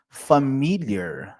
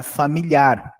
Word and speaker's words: familiar: Are you familiar? Não é familiar, é familiar. Olha o acento, ó.